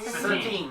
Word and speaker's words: Satine: How do you pronounce it? Saltine? Saltine. Satine. Okay. Satine.